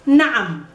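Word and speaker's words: نعم: It's na'am. Na'am. There's a ayin in the middle. You have to pronounce it well.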